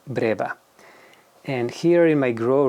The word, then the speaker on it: breba: first scrap of figs some people say breba or braa they all the same I just like to pronounce mine Brea and here in my